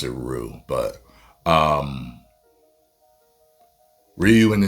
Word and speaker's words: Ryu: We called him Ryu. I know his name is Ryu or some people say Roo. Supposed to pronounce it Roo, but um, Ryu in the '90s film looks better than this one to me.